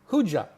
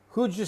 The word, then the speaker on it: who'd you: Huja, that is how we say who did you.